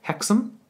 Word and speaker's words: Hexham: let me slip in a proper pronunciation here hexam hexam all right I was corrected